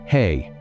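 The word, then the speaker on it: ה: The letter is he pronounced hey.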